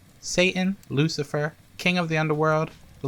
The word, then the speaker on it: Lucifer: who are you man my card loose piper a small mistake on the part of the printer actually it's pronounced lucifer he wears many faces